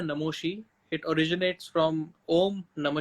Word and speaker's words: Namashi: तो इसकी स्पेलिंग जो है NAMASHI, लेकिन प्रोनाउंसिएशन है नमोशी।